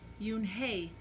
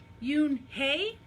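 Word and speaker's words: Unhei: Kim then turned to Joey she nodded slowly well yeah but it's pronounced Yoon hae and it means grace mr. Kim added Eun Hye she said no Yoon hae Joey said it very slowly and this time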